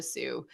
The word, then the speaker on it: Sault: Before we started, I said you're the founder of the Sault Film Festival. You're like, oh, it's Sioux.